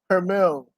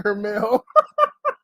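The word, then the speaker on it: Jermall: Mexican so bad that he pronounced the J in his name as an H. And he rolls the R. And his last name, lame ass kitten. Oh man, Jermell.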